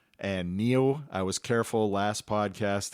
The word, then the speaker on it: NIU: people say news right yeah yeah this is pronounced neo it's a chinese word it means ox or